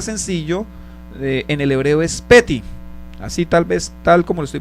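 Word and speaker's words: פֶּתִי: Esta palabra sencillo en el hebreo es peti, así tal como lo estoy pronunciando, peti.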